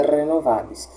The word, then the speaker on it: renovabis: Como eu sei qual é a tônica? A tônica em latim geralmente é a sílaba do meio, tá? geralmente não é nem a primeira e nem a última, porque, como eu disse, a última nunca será. Geralmente é alguma das sílabas do meio. Então, renovabis aqui, ou seria renovabis ou renovabis. O correto é renovabis.